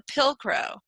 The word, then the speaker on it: pilcrow: way it's it looks pill just like you swallow a pill and crow just like the bird so anyway I will try to start using the term pilcrow for it so it'll